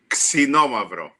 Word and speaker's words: Xinomavro: get the accents wrong I'll tell you it's pronounced xinomavro no no no more oh yeah but but